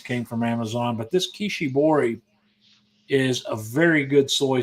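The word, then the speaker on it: Kishibori: I've been buying for a while it's called Kishi bori and that's spelled k i sh i b o r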